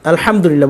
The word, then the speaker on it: আলহামদুলিল্লাহ: লাম লিল লামবুল্লাহ লিল্লাহ এখানে যে হাটা দেখতেছেন এটা সাকিন হবে লিল্লাহ এভাবে হাও আসবে লিল্লাহ আলহামদুলিল্লাহ এভাবে আবারো বলছি আলহামদুলিল্লাহ এটাকে সাধারণভাবে বলতে পারেন